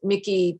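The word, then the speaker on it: Michie: I'm not sure if I'll have a chance to do it, but since we're doing memorabilia, Charlottesville has a Mickey, they pronounce it Mickey Tavern with numerous do they have a sweatshirt?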